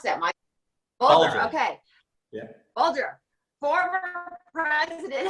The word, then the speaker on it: Bulger: How do you pronounce that, Mike? Bulger, okay.